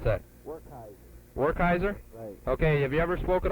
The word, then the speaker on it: Werkheiser: spelled w-e-r-k h-e-i-s-e-r w-e-r-k-h-e-i-s-e-r and how do you pronounce that or kaiser okay have you ever spoken over radio before